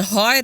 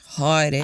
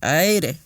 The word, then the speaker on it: haere: So there are many words like tangata, whereas the majority of the Pacific would pronounce it as tangata. Aye. Tangata. And even haere, eh? Like haere and aere.